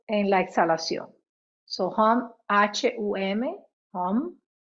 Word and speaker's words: hum: So hum, H-U-M, hum, que en inglés se pronuncia la H, eso suena como J.